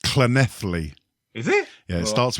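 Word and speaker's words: Llanelli: When you see a double L in the Welsh language, it's pronounced with a C. It's a silent C, so it's Clenethly.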